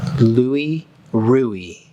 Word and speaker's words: Louis Ruhe: feels like a bottle oh yes this is Louie ruie is how you pronounce his name he was German importer of